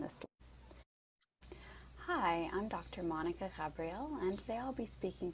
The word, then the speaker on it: Ghabrial: so as I said my name is Monica Cabrio you can pronounce that Gabriel or Gabrielle as I know that's a bit easier for people I use she her